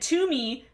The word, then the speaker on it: Toomey: And Toomey rhymes with loony, so it just makes a lot of sense for that to be her last name.